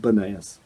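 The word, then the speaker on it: Banias: place is called bunnies because according to local folklore people were unable to uh to pronounce the letter p so they couldn't say pineap so they called it banayas at least that's what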